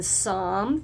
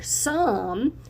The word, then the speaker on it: Psalm: If you remember, it was also found in Psalm 34:13. Remember, that P is silent.